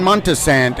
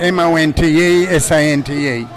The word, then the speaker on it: Montesante: How do you pronounce his surname? John Montesante, Montesante.